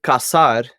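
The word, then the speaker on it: casar: get married um but if you change the S to a z in Spain it's pronounced differently it'd be K but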